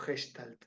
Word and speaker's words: Gestalt: es una palabra alemana muchos la pronuncian gestalt o gestalt eh yo la pronuncio más más más porio en fonética alemán sería algo así como hestal significa figura o forma